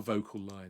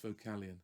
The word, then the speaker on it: Vocalion: think it's vocal lion but it's not a vocal line it's vocalion um yeah so these